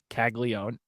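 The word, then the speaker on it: Caglianone: But it's not it's it's it is Jack Kaggleon. How old would you I know there's no major surprise there, but that the proper way to say it is Kaggleó.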